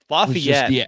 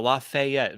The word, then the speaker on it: Lafayette: I love how you say it though, Lafayette. Very fancy. I don't know if it's just like because like at least in Indiana, it's just like Lafayette. Like it's Lafayette, West Lafayette.